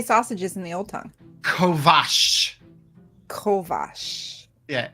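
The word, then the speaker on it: kovacs: do you say sausages in the old tongue Kovash Kovash yeah C I know k-o-v-a-c-s Kovash all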